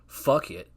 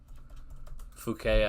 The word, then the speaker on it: Phuket: It is on Boat Avenue Lakefront in Phuket or Phuket. Phuket, I think is how you say it.